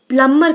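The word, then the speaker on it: plumber: इस वर्ड में जो बी होता है, बी इज एक्चुअली साइलेंट, तो इसे प्लम्बर नहीं पढ़ा जाता है, इसे प्लम्बर कहा जाता है. Just प्लम्बर.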